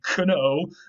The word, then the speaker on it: know: the root canal became know with a k in the germanic languages because that's exactly what grimm's law says should happen now of course today in english we don't pronounce the k anymore just like the romans